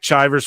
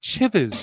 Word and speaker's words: Chivers: some people over Nick chivers for two bucks says Phil my name rhymes with rivers you